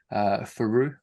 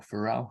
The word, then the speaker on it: Fiorot: So yeah, Rose Namajunas versus Manon Faru or Farrell, however you pronounce it. I think it's a silent T, but we're going to roll with it.